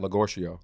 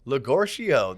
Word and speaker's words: Legorcio: good job remembering that do you remember how to pronounce rocky's last name chill i don't even know what it starts with look where she got legocio legorcio there you go john look at that